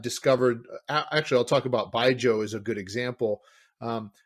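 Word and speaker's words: baijiu: making baijo it's it's spelled b-a-i-j-u um but pronounced by joe and with that that their their process actually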